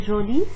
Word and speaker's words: jolie: Alors, pour la prononciation de joli et jolie, c'est le même, mais la différence, c'est en écrit.